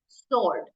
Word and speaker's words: sword: it's not sword it's sword sword W is silent in this word so in fact uh